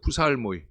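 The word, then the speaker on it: ψαλμοί: 푸살모이.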